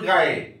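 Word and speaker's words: গাঁয়ে: সুর যায় দূর গায়ে, সুর যায় দূর গায়ে, যে উচ্চারণটা চন্দ্রবিন্দু থাকবে এই উচ্চারণটা কি হবে, একটু নাকে আসবে।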